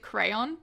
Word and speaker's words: Creon: so edipiscent creon um who they pronounce in the in the 50s like staging i watched they pronounced it crayon which i love um